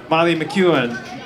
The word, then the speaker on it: Molly McEwen: We have one more to feature tonight, and that would be Molly McEwen.